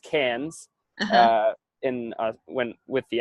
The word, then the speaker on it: Cairns: and she's like well Cairns pronounced Cannes in when with the